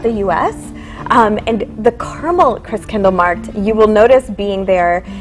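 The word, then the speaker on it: Christkindlmarkt: The proper pronunciation is Chris Kindle Markt. Ah, Markt. Oh, yes, so there's no market, it's Markt.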